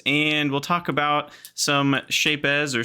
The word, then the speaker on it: Shapez: about some shapes or shapes or shapes however we pronounce it to and yeah I like I like building shapes so I like to pronounce the Z it's satisfying for me for whatever reason uh and then we'll